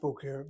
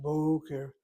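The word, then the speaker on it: בֹּקֶר: And indeed, in the coffin has that accent over that first of the two syllables of the word Boker. So Boker, not Boker, but Boker, Boker Tov, good morning.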